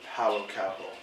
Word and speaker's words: Paulo Coelho: Now, you mentioned before the author, Paulo Coelho. Yeah. And yes, you did pronounce his name right.